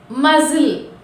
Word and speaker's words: muscle: Next L, మజిల్, MUSCLE, మజిల్. చూసారా? మజిల్, MUSCL. ఎల్కి ముందు వచ్చింది సి అనేది ఎల్కి ముందు వచ్చింది కాబట్టి we should not pronounce C.